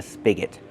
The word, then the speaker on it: spigot: Use a short sound like this is spig. Spigot. And the next syllable is not stressed.